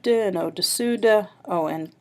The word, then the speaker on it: au-dessous: However, there's one slight difference, dessus and dessous. There's the difference of the U sound and the OO sound.